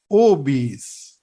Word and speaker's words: obese: And our number 9 word is another highly mispronounced word. අපි මේක කියන්නේ obese.